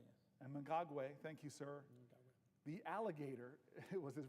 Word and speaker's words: Mnangagwa: And you always correct me on my pronunciation, so I'm going to try my best. Mnangagwa. Mnangagwa, yes. Mnangagwa, thank you, sir. Mnangagwa.